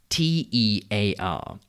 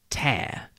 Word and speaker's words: tear: if you pronounce it tare it means to pull something apart by force and tear rhymes with pear p-a-i-r meaning two of something and pear p-e-a-r that